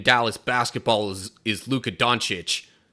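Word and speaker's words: Dončić: basketball is is Luca donic but his last name is spelled with two C's so both C's make a CH sound now I think there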